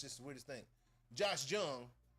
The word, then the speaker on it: Jung: Josh Jung round Jung. Josh Jung. Jung J. Yeah. End of that thing. We don't pronounce J's like Hes.